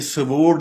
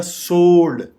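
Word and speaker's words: sword: गलत बोल रहे हैं, ये स्वोर्ड नहीं है, ये सोर्ड है। डब्ल्यू बिल्कुल साइलेंट है, आप ये समझें डब्ल्यू है ही नहीं, तो ये सीधा सा बनेगा, थोड़ा सा हल्का सा ओ को खींचेंगे तो ये बनेगा सोर्ड, सोर्ड, जिसका मतलब तलवार है।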